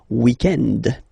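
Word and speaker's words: week-end: So if we're talking about the weekend, okay, but then pronounce it the French way, weekend.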